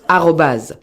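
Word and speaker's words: arobase: oui oui c'est ça ça se prononce @obas donc je vous envoie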